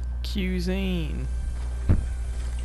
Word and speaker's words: cuisine: Because you're saying it without the I.